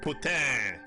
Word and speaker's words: poutine: I say it like as English as humanly possible. Oh no, I feel like that's the way it should be said. Poutine. Well, I mean, if it were to like catch on anywhere, people wouldn't say it with like putain. Like they just wouldn't say it like that.